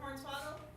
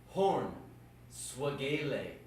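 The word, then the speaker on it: Hornswag: dear for starters Missy it's Dr horn SP Dr horn swaggle okay no no no no no it's pronounced horn swag horn swag do horn swag okay Dr horn swag yes well gly inconsiderate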